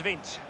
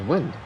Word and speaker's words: Wind: Vint? Is that how you say his name? I thought it was Wind. Vint? What a name. I thought it was Wind. I was thinking calling them Wind the whole time. Now it's Vint.